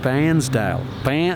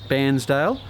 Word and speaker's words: Bairnsdale: But we're at Bairnsdale. It's not like, it's a bit like Barnsley. Barnsley.